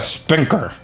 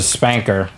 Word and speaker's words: Spanker: the spanker that's it i thought it was like a spinker but they pronounced a spanker which i guess is supposed to be funny oh somebody just got